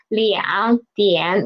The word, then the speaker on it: 两点: Okay, and still remember the tone sandy for third tones. When there are two third tone syllables together, we will change the first one into second tone, right? So although it is written as liang dian, we will read it as liang dian.